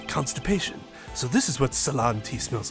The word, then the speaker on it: Ceylon: It's Ceylon, right? That C is pronounced like an S? That's true. The Japanese song could have made a lot more sense. C-E-Y is pronounced suh? That's interesting.